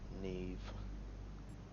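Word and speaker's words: Niamh: Well, one thing I do know about Irish culture, that's Neve.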